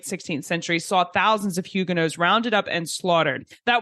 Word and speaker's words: Huguenot: We are exploring the history of the Hugenos, and you'll get to hear me learn about how to pronounce that name correctly. It is Hugeno and not Hugenats, as I had been saying, and which you